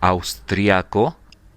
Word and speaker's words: austriaco: Okay, I'm gonna pronounce this one. In the case of the man is austriaco, austriaco, and in the case of the woman is austriaca.